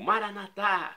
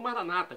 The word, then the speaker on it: Maranata: e agora do aramaico Eu Clamo maranat como dizemos nós católicos ou Maranata como como dizem nossos irmãos separados os evangélicos ou protestantes não importa pronúncia o significado é o mesmo vinde Senhor Jesus será